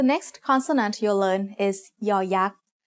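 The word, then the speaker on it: ย ยักษ์: As the initial sound of a syllable, it makes the sound y, just like the letter Y in yes. As the final sound of a syllable, it adds the sound e that blends with the vowel, just like the Y at the end of the words say and boy.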